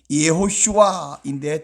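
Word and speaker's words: יְהוֹשֻׁעַ: 왜 똑같냐 물으면, 여호수아라고 우리가 한국어 발로 발음하지만 히브리어 원래 발음은 예호슈아인데 뜻이 여호와는 구원이시다 이런데요.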